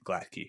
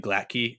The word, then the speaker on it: Glatke: Maybe this was actually her husband, Glatke, who shot her. Also, if you're listening to me say Glatke, that's how it's pronounced. Our episode that we did, I kept calling them Glat. It's actually Glatke.